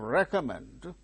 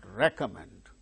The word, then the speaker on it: recommend: Sy gain stress success in the case of recommend recommend not recom it's not recom recom no it is commend recomend the second syllable now re Comm men therefore it is third syllable that gains stress okay therefore what do